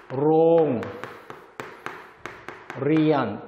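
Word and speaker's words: โรงเรียน: 롱, 리안. 뜻은 학교. 근데 이번에도 조심해야죠. 이번에 요건요, 똑같이 리을 발음이지만 영어의 R 발음하고 같습니다. 그래서 롱, 리안에서 영어 R 발음처럼 해야 되고요.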